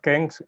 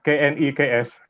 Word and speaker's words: KNEKS: The name of our organization is not KENGS, but KNEKS.